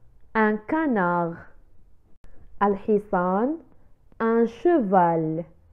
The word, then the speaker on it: canard: لا ننطق الحرف د في آخر كلمة canard. un canard.